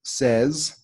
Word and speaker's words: says: have say and then this word here is pronounced like says and this word here is pronounced like said